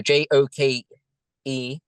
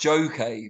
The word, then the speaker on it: Joké: and that's Instagram now I thought it was pronounced Joe K because you've got the accent over the e but you've said it as a joke a few times now yeah what was it